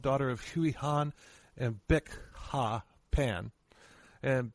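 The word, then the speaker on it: Bich: of Huey Han and Bic Ha Pan. And Bic is spelled B-I-C-H, but it's pronounced Bic like the lighter. Yes. Yeah, but I watched a documentary where they were calling her bitch.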